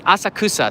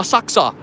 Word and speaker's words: Asakusa: for the tokyo metro they say asakusa so all these people that are like oh saksa they can go you know it's pronounced two ways okay don't worry about